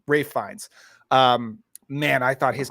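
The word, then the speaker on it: Ralph Fiennes: Everybody was, but my for me the standout person was was Ra Ralph Ralph Fines, believe it's how you say his name. Rafe Fines.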